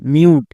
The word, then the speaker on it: mute: শেষের ই সাইলেন্ট, তাহলে এর উচ্চারণ কি দাঁড়ালো MUTE, মিউট।